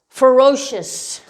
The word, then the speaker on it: ferocious: like an sh sound sh usually only appearing in adjectives ending with c-i-o-u-s shish or so okay as in ferocious ferocious or as in social social this is a quiet c this has more of an sh an sh sound okay um of